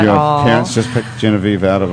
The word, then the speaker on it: Genevieve: Genevieve.